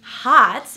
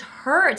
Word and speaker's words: hurt: He had hurt himself, but he couldn't pronounce the sound. So I was thinking he was hot, you know, like he needed to cool down, or maybe that he was complimenting himself, because you know, to say someone is hot means they're attractive, but he was actually saying that he was hurt.